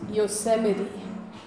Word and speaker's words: Yosemite: And this, those of you who are lucky enough to use this new OS 10, is pronounced Yosemite.